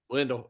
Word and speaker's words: Lido: It rhymes with window. Lido.